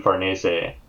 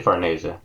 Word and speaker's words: Farnese: I say Farnese. Because it Farnese. seems an Italian-derived name, so I pronounce it that way.